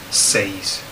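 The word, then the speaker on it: seis: from zero to ten one of them is six because six is spelled s-e-i-s says but English people want to put the I before the E and so the tentac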